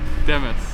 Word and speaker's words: Dimas: I feel like I always say it wrong. I'm like Dimas, but you say it. Demis. Demis. I got it like Demis.